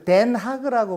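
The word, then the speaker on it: Den Haag: 근데 우리는 국사 시간에 이준 열사가 다녀오신 헤이그 열사 그 생각을 해서 헤이그라고 하는데, 네덜란드 사람은 덴하그라고 발음을 합니다.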